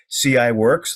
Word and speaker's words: CIWRX: Ladd the president of CI works that's how they pronounce that particular name that's ciwrx CI works